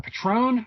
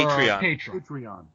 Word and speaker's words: Patreon: do you pronounce it is it Patron or p patreon patreon patreon what made you go